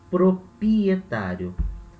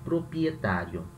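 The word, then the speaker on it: propietario: em português, essa palavra em português tem dois R's, né? Proprietário. Tem R no pro, tem R no pri. Em espanhol não, só no pro. Proprietário. Parece português errado, né? Mas é a maneira como se fala em espanhol.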